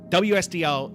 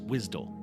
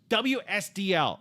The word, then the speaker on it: WSDL: First of all, look, WSDL is not pronounced Wisdom.